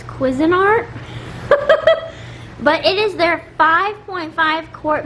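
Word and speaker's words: Cuisinart: I thought it was Cuisine Art, but the uh cashier told me it was Quisin Art.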